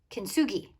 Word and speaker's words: kintsugi: i could practice the art of kinsuji or kinsu kinsugi that's how you say it kenzugi on this